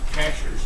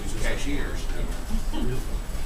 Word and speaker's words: Cashiers: you live in the Cashers and she said I live cashiers I said no ma'am it's Cashers and she said I